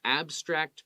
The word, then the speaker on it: abstract: And so it could be legendary creatures and animals to beautiful abstract patterns. Abstract, we put the emphasis on the first part.